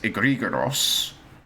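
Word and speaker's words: ἐγρήγορος: So it comes from Greek, which pronounces it egregoros, which means wakeful.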